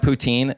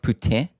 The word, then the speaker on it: poutine: Same with it's like Wait, is this okay, I'm gonna have poutine. Well, no, it's poutine.